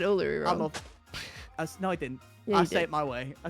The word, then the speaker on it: Uluru: I worked down the road from Ularoo. Oh, you said Uluru.